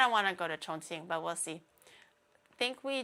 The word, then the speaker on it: Chongqing: Chongqing. It's not even Ching.